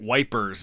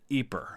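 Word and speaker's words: Ieper: there are so many different ways that people pronounce the name of this town. You'll hear it or the British just called it wipers because it was a lot easier and it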